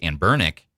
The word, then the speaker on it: Anbernic: We had Lee on and he was pronouncing Amber Bernick how they're how you actually say their name, which is And Bernick.